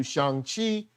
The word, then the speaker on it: Shang: and we're getting into shanghi sheng chi how we pronounce it he says shang so you probably say shang but if you can't get shung out your mind or can't get shame do whatever you got